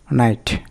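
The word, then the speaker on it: knight: knowledge মানে জ্ঞান এখানে কে কিন্তু অনুচ্চারিত থাকতেছে নাইট নি মানে হাঁটু এখানে কে অনুচ্চারিত নাইফ মানে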